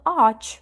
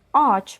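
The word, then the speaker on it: ağaç: Читаємо першу а і другу а. А її не читаємо. Тобто ач буде в нас ач просто дерево випадку, наприклад,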